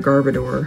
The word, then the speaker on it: Garbodor: all these guys they might have heard ooh garbodor v so we didn't get a hit we did get a hit out of evolving skies yes it's a garbod or a garbador however you would like to pronounce it but it is a hit i